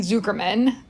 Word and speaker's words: Zuckerman: So first and foremost, though, I have to say, I got the name right, but the pronunciation incorrect. It is Jeremy Zuckerman, the composer of this